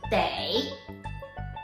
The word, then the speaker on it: 得: This word the is also a polyphone word, which can also be pronounced as they.